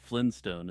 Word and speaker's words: Flintstone: I would argue that Flynn stone is a perfectly acceptable way to pronounce Flintstone and that many people do it unknowingly while speaking fast and casually Tupac Shakur is alive